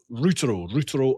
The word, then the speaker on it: Routero: So there's many ways to pronounce it. This is what I like about it, is everybody pronounces it in their own ways, and it causes a bit of a conversation. So I like how you pronounce it. I pronounce it as in Routero. So there is no right or wrong way.